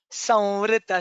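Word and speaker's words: संवृत: Avartano nivrittatma samvrita sampramardanah. It is ma, and with a light it is va with a light touch of ma.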